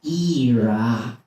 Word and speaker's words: Iraq: get offended over there if you pronounce it like that actually it's pronounced era and I was like